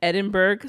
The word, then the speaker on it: Edinburgh: But there's a BUR. It's not BRU.